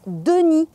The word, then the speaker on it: Denis: Dans le conte, le loup s'appelle Denis, qui s'écrit ainsi, mais se prononce " Dení ", et c'est un nom masculin.